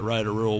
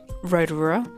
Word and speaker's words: Rotorua: mates would call it Rotorua complete with badly pronounced vowels it's kind of ironic